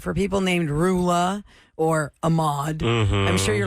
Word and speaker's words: Roula: I watch that online I put my name and I put r as rhymes with cow oh nice I gave